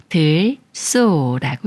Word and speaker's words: 들소: 소리인 쓰로 소리내는 경우예요 먼저 에을 소리를 붙여서 들이라고 읽어요 들 다음에 소라는 말이 와서 들소가 되는데요 들 소란들에 사는 소예 따라서들이 꾸며준 말이고이 꾸며 주는 말에 리를 받침이 초성 시 옷을 만나면 쌍시옷 소린 쓰로 바뀌서 들 소라고 읽어요 들소 예문 읽어볼게요 들소가 풀을 뜯고